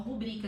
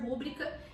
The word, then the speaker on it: rubrica: Bom, as pessoas pronunciam rúbrica. Rúbrica, se fosse realmente assim, seria uma proparoxítona.